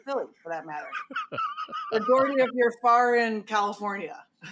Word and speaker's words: Dougherty: Dougherty is how I, as an American, would pronounce it. But if you're in Ireland, it could be Dougherty. If you want to do the Gaelic version, it could be O'Dougherty, and it could be Dougherty in Boston and Philly, for that matter.